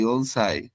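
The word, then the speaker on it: 四歳: 4 কে normally বলা হয় ইয়ন, বয়স বললে ইয়নসাই।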